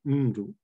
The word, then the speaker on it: ndu: So for instance, the word for a person, ndu, if it is pronounced in isolation, it will be ndu, with a clear prominence on the first syllable.